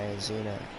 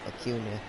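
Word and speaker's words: Acuña: amazing take there by azuna nope acuna still saying his name wrong and it's gonna be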